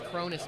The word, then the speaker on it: Cronis: So, what's your game plan against Curtis now? Oh, Cronis or Yeah, yeah, I pronounced it wrong. I think I've been calling him Curtis. His name His name is Cronis, not Curtis Pence.